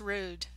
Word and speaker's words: Ruud: it's the right pronunciation number one rude number two Ruud which is our out pronunciation one or two one rude to Ruud and that's my slightly southern twang built in the hair one so it's rude okey dokey and well